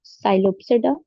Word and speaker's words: Psilopsida: So there are divided into four classes: Psilopsida, Lycopsida, Sphenopsida, and Pteropsida. P is silent. So Psilopsida, Lycopsida, Sphenopsida, and Pteropsida.